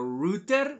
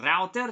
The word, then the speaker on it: router: only to your device a router or a router depending on which country you're from you'll probably pronounce